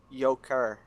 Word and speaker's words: Yoker: It's Yoker. It's Yoker? Yoker. Please Yoker. pronounce his name correctly.